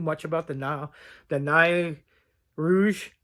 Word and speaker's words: Nain Rouge: about the now the NYE Rouge the nine Rouge that's how they say it like a little impish